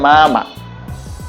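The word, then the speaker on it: 妈妈: সেটি ফলো করার জন্য প্রথম মাটিকে আমাকে ফ্ল্যাট টোনে উচ্চারণ করতে হবে। তা হচ্ছে মা এবং পরের টোনটি হচ্ছে নিউট্রাল বা লাইট টোন। এতে কোন টন নেই। খালি আমি ছেড়ে দিব। তা হচ্ছে মামা।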